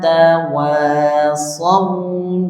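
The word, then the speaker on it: وَتَوَاصَوْا: Jadi mulainya dari waamilu wa amilus shihati wa tawasau bilhaqqi wa tawu bisabru shru haiti kita coba satu-satu watwa bilhaqqi di situ ada huruf shad bertemu dengan wau.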